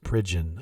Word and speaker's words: Pridgen: Thomas Bridge in Drums Pridgen I think is how you say that I've got it on